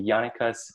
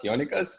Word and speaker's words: Jonikas: a warm welcome to Jana cos Johnny cos did I say that right no but that's okay no my name is not very international but well I'm the novice Jana cuz but if you spell